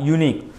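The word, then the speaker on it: unique: any proper particular character, so यू यूनिक, इसका pronunciation होगा यूनिक, देखो यूनिक, तो यू तो हमारा वोवेल है नहीं, ठीक है, अब हिंदी में या गुजराती में लिखोगे ओ ई तो लिखोगे उसमें य आएगा, तो य मतलब जो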